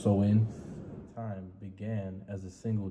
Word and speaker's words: Samhain: or sewin right some people will call it samhain but it's actually pronounced so in time began as a single day but by